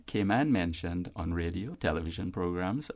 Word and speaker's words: Cayman: alphabet a and then the first syllable rhymes with C and we render the a short in the second syllable man write news a